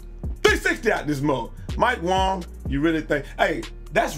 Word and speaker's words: Wang: I'm telling you that his last name is Wong that's how you pronounce it damn Americans out go